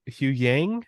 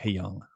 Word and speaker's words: Huyang: I mean, from what David Tennant's character, Hugh Yang, if I'm saying that right, I don't fucking remember. I really want to say it's like Hyung, but I could be wrong. Because I don't remember saying Hugh Yang. It's spelled Huyang.